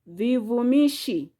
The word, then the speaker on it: vivumishi: Next, we have vivumishi. Vivumishi. Vivumishi has syllable V, Vu, Mi, Shi. Those are 4 syllables.